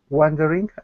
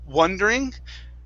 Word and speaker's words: wandering: okay very nice uh this word here is pronounced wah wandering instead of wondering wha wondering is with an o okay when there's an a it's an ah sound wandering one wondering okay very